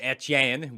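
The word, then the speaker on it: Etienne: about driving drafting Travis at Yen which I still pronounced with a French accent by the way as it should be pronounced cuz he's from Louisiana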